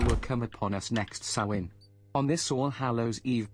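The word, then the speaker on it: Samhain: of the veil will come upon us next sawin on this All Hallows Eve blessed Mary we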